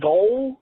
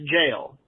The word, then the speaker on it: gaol: I thought it was goal. I thought it was maybe some old English word, but apparently GAOL is pronounced jail.